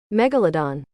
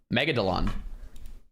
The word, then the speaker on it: megalodon: Pronunciation. Megalodon. That's what I said. Megodelon.